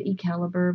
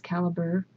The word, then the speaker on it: calibre: on the previous video i said it wrong i said e-calibur but it's caliber and so how do